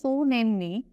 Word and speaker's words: tsunami: very dtive now Tsunami Tsunami is pronounced so namely it a series of